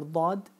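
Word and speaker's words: ضاد: You need to pronounce the letter Dad with a pressure and with using all of the tongue, Dad. Because you start with the tip, you come in the middle, and then at the end of the tongue, Dad. And then even the sides.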